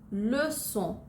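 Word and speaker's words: leçon: যেমন Garson, Garson সির পরে ও আছে কিন্তু এটার উচ্চারণ তবু আমরা অ্যাসের মতোই করব। অথবা লেসন, লেসন মানে হচ্ছে লেসন, এখানেও সির নিচে একটা সেজি আছে তাই এটার উচ্চারণ হবে অ্যাসের মতো।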